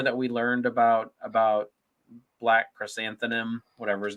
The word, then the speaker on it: Krrsantan: Black Krrsantan.